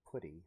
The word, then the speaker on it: PuTTY: so step one download pudding or putty depending on how you want to pronounce it google it download it